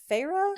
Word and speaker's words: Feyre: end up finding out that her name is FAA is that how you pronounce it okay that's what I thought that's